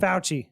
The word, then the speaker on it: Fauci: Anthony Fauci de faction I don't like touching people pouchy yeah that's how you pronounce he declared all that close physical contact